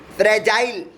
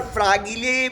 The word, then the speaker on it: fragile: अब चलते हैं दूसरे शब्द के पर, वो है फ्रेजाइल। FRAGILE। और व्यस कई जगह पर फ्रागिले भी बोला जाता है, इसे प्रोनाउंसिएशन अलग अलग हो जाती है थोड़ी सी। वैसे फ्रेजाइल प्रेवलेंट है, FRAGILE, फ्रेजाइल।